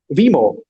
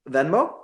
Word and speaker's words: Venmo: about like, Vimo. I think that's how you say it, Vimo. Venmo.